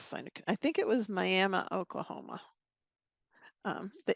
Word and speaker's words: Miami: I think it was Miami Oklahoma um it's spelled like Miami but they say miam you get corrected out